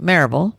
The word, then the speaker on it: Maryville: I lived in, and still do, in Maryville, Tennessee, which is pronounced Maryville by the locals.